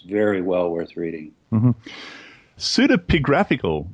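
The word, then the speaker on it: pseudepigraphical: Pseudapigraphical. Pseudopigraphical book. Am I pronouncing that correctly?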